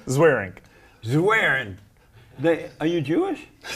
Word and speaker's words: Zweerink: last name I would never be able to pronounce it Dr what's your last name zaring zaring they are you Jewish no how you